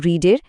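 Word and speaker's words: read: এরপর রিডের V3 form রিড, তবে উচ্চারণটা হবে রেড।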